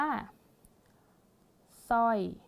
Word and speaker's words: สร้อย: อ่าน ว่า สาย ไซส์ มา ดู คำ นี้ ค่ะ ปิด เสียง ตัว ร เรือ ไป เรา ก็ จะ อ่าน ว่า สร้อย สร้อย สร้อย คอ อะไร แบบ นี้ นะ